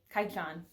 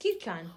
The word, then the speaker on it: Kyuu-chan: this this series this is wonder cat kaichu kai chan it's actually pronounced kuchan wonder cat kaijon by sasami natori and this